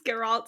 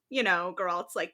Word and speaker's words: Geralt: To forewarn you, we think that that's how you pronounce their names, Geralt and Jaskier, but we very well could be wrong.